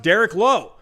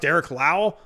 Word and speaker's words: Derek Lowe: Derek Lowe on the Red Sox for how many years? It was pronounced Derek Lowe. He was not pronounced Derek Lau.